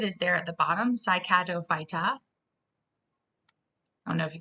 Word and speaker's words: Cycadophyta: And the way you pronounce it is there at the bottom, Cycadophyta.